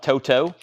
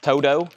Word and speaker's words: Toto: which is Toto evidently it's pronounced with a d so this is spelled with a t though I call it Toto it's pronounced Toto and it's a $45